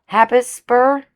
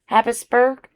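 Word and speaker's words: Habsburg: But also, if I've been saying it the wrong way for a long time, Habisburg, Habis, it's not a borough. Habisburg, Habisburg.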